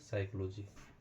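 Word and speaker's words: psychology: और देखते हैं दोस्तों साइकोलॉजी साइकोलॉजी का अगर स्पेलिंग आप देखेंगे तो यहां पे पी एस वाई सी एच ओ एल ओ जी वाई साइकोलॉजी यहां पे भी हमारा पी क्या हो गया साइलेंट हो गया तो इसका जो एक्चुअल प्रोनाउंसिएशन होता है वो होता है साइकोलॉजी साइकोलॉजी साइकोलॉजी मतलब होता है मनोविज्ञान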